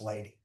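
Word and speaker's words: Ledi: His name is Lei, but it's pronounced lady.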